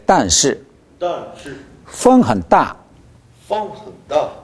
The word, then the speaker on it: 风: 风很大. 风很大. 风. 风. 입을 风. 风. 어, 风. 风. 네, 风 하면 ng가 더 길죠? 어가 길어야 되니까, 风.